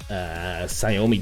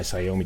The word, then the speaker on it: Xiaomi: And I bought the thing to hook up my Xiaomi devices, or Xiaomi devices is how you say it.